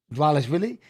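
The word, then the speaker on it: Dvalishvili: Dwalishvili? Is that actually how you pronounce it? Yeah. Dwalishvili.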